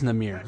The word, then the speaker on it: Namir: after brought us here Richard and it is namir okay namir see the last video I wasn't sure on how to pronounce it because wasn't really paying attention would